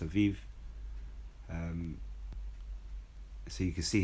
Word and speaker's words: Aviv: month of Aviv this it says here abib a i b but I believe it's pronounced Aviv um so you can